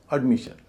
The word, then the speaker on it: admission: इसमें एस आई वन से पहले क्या? एम आई एस है। एम आई एस का आई पर स्ट्रेस होगा। क्योंकि सन से पहले जो लेबल होता है जो वोवेल होता है उसप स्ट्रेस होता है। लेकिन उससे पहले जो है वो हल्का हो जाएगा। तो एडी जो है हल्का हो जाएगा। इसलिए इसको बोला जाएगा अड एड नहीं बोला जाएगा।